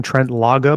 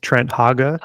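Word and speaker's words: Trent Haaga: I I apologize because I feel like I called him Trent lagaga before his name is Trent haga not aware of that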